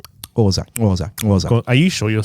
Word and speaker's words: Xhosa: Now it comes its traditions come from the Xhosa and Zulu. No. It's more of a smack. It's suck the top of your mouth. Xhosa.